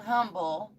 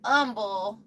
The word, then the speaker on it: Humble: Hi from I know it's not called Humble. You guys call it Umble.